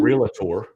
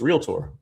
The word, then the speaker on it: realtor: You're welcome to those of you that are listening that realtor has 2 syllables, not 3. It's not realtor, it's realtor.